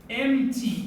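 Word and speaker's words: empty: اصلا البي مش بتتنطق. امتي.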